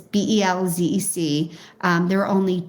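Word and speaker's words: Bełżec: People pronounce it differently. Michael Berenbaum calls it Belchik. Other people calls it Belzec, but it's Belzec.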